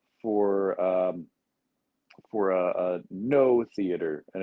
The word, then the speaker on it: Noh: um for a a no theater and it's it's not spelled no as in yes and no it's spelled no so it's no theater